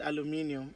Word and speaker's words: aluminium: got up and said aluminium oh my god but i mean that is the proper pronunciation for it so i knew what